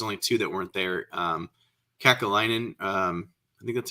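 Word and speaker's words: Kekäläinen: Kakalainen, I think that's how you say his name, the GM in Columbus, and someone else. So was that Jarmo Kekalainen, I think is how you say it.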